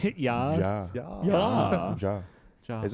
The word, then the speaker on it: Ja: No, it's Ja. ja. Yeah. Ja. Ja. Is it ja? I don't know. Yeah. How to say yes in German? Okay. Ja. Yeah, it's ja.